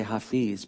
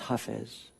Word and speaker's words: Hafez: f I isay and i want to say Hafiz because that's how we might say it in English but but in Arabic it's huh phase I don't know if